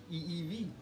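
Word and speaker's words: ʻiʻiwi: favorite forest birds it's called a evk and it's like pronounced just like that Evy and the he is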